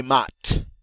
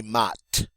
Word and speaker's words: maths: Ah, les maths. Les maths. Notice that TH is pronounced like a T.